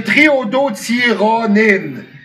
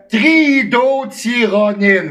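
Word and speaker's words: triiodothyronine: et les T3, les on va essayer de vous le prononcer comme il faut, les triodothyronines. Attends un peu, je vais le refaire, il était pas bon. La tridothyronine. Voilà, c'est que ça se dit.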